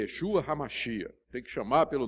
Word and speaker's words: Yeshua: hoje falando de que o nome dele é Yeshua e sem dúvida era assim que se pronunciava o nome porque em aramaico eem hebraico que era a língua falada naquela época era dessa da forma que era grafado e pronunciado só que a preservação